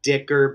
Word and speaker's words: Dicker: your coup I will take Dicker because it rhymes with kicker I'm your guy right